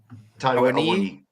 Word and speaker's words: Awoniyi: By the way, Awoniyi.